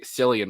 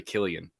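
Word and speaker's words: Cillian: have said it wrong i used to say silly and murphy and it's really killian somebody destroyed us every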